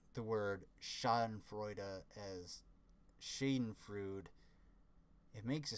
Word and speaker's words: Schadenfreude: pronounced Schadenfreude, or Schadenfreude, because in German you actually pronounce, like, basically every letter in the word. So at the end of the word you have an E, so it'd be an E, which would be a sound.